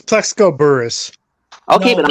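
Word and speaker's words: Burress: mean I'm not a Giants fan it's plexco Burris okay but I'm not a dying fan I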